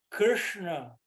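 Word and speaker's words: कृष्ण: de enrolar a língua então Krishna krna a gente tem que enrolar um pouquinho a língua é um sonzinho um pouquinho difícil da gente fazer em português para quem não é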